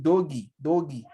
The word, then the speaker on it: Doge: That is Doge, as the white men will call it Doge, but I call it Doge, D-O-G-E. But the white men call it Dogi. So this depends on the pronunciation and whatsoever English we're using.